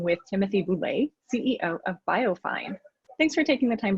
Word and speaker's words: BioFeyn: other fun part about our name is that biofine can be pronounced biofin uh which evokes thin fish so